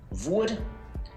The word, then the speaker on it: hvor: And with all these question words starting with HV, we don't pronounce the H. We write it, but we don't say it. So we say hvor, hva, hvem, hvorfor, når, hvor gammel, hvordan.